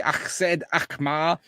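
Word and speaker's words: AZ Alkmaar: Sutoo from Dynamo and as you can see Axed Akmar that's how you say it correctly honestly at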